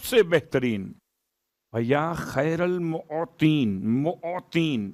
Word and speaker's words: معطین: یا خیر المعطین، معطین میم عین توئیں یہ نون معطین موتی. اب چونکہ اگر تلفظ میں غلطی ہو جائے تو بات کہیں اور پہنچ جاتی ہے.